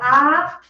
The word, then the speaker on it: ha: Que, now this H is silent. Que ha Que dado.